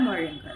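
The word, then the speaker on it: Moehringer: American novelist J आर मरंगर ठीक है एच H actually silent होता है अमेरिकन नोवलिस्ट जे आर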